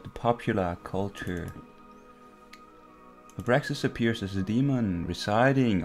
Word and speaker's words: Abraxas: Abraxas appears as a demon residing on the astral plane who tries to steal the Book of Shadows.